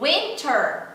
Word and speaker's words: winter: O winter, winter, que é inverno, fica winter, winter.